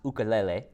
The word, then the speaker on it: ukulele: do you play the ukulele which is actually pronounced ukulele and what is your favorite Hawaiian food okay